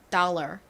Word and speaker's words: dollar: 화폐 단위인 다우입니다이 달러를 한국식으로는 달러 혹은 달러 달러 뭐 이런 식으로 발음을 하지만 실제 미국식 발음은 달러 달러 이렇게 리을 받침이 들어가는 소리가납니다 끝에 이렇게 r이 들어가요 자 유념해서 봐주시고 이제